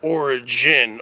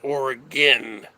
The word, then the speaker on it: Oregon: So it'd be like ORR dash then then gin. I don't know how you'd spell that, because if you spell it GIN, people would say gin, like you're drinking gin. It's not origin, Oregon.